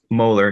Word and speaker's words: Moeller: Moeller, just like the tooth.